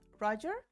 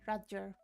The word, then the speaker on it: Raja: Raja is the name of the protagonist. It is not Roger, it is more Roger.